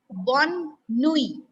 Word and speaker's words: bonne nuit: Good night is bonne nuit.